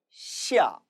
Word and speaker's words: 下: 시아, 시아가 됩니다.